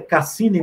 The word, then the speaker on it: Cassini: é uma opção a a pronúncia cassini mesmo Cassino é a cassini Azul a Saturno e